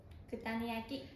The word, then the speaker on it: Kutani yaki: Kutani yaki.